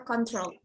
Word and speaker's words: control: Ada tulisan CTRL, itu bacanya control.